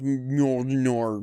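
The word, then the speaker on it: Mjölnir: That's how you pronounce Mjolnir.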